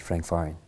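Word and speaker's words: Frank Farian: hook up with Frank uh faran is that how you pronounce that's right Frank faran Frank faran so what's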